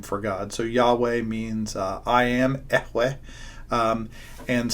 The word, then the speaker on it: Yahweh: And so it's the name that they would have known him as, the tetragram, can't even say the words, YHWH, which we think is pronounced Yahweh.